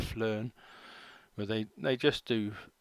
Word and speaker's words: PHLEARN: to which is p it's all one word but it's p h learn and they sort of pronounce it flarn where they they just